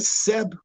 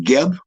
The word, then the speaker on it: Geb: from its generical extraction we know that seb is the proper way to pronounce the name when you evoke the earth and his and his her powers and of life and energy you don't call him kemp you don't call him geb because you're you're fauna